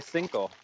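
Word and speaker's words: cinco: like but what's C how do you say Cino and Maya she's like you just say cinko I was like okay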